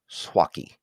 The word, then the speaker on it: Suaqui: And let me make sure that I spell that correctly because, unless you're familiar with the Spanish language, it's Suaqui, and it's pronounced Swaki.